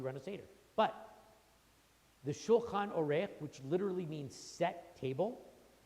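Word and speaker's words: שולחן עורך: It's supposed to be, we call it Shulchan Aruch, all right? Actually, it's Shulchan Orech, the way it's pronounced in the Haggadah, which is one of the 15 steps of the Seder, right?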